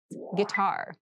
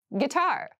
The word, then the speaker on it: guitar: casual clothing casual clothing guitar guitar this word has kind of an interesting spelling it starts with GUI but we pronounce this as git so a guitar is